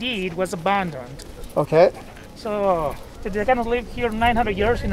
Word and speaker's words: Teotihuacan: Teotihuacan. Is that how you pronounce it? Exactly.